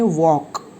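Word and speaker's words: walk: व्यक्ति के वर्क एंड यहां पर जोर से नहीं बोलना है l साइलेंट है तो हमें बोलना है वर्क हैं इट इज अ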